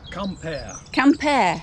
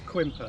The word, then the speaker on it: Quimper: the sound of the gardeners hard at work here in the L'Orangerie de Lanniron in Camper. Not Quimper. Not Quimper as it's spelt in English.